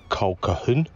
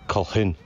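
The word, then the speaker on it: Colquhoun: must be keys then a friend of mine had this surname at school and uh i've heard several variations including kolkatun called quan but it's kohun number 11 is a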